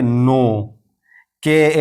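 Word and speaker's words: knock: इसी तरह नोक नोक एन आया के के बाद तो अब इस के को नहीं पढ़ेंगे बल्कि इसको कहेंगे नोक एल का कायदा अगर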